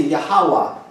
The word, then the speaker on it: Yahweh: Si le H se prononce A ici, à la fin il finit par A aussi. Ouais, c'est vrai. Et non? Alors finalement c'est Yahweh.